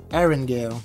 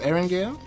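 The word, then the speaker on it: Erangel: in iran iran yeah aaron gail you know what's pronounced eren gale betty didn't know that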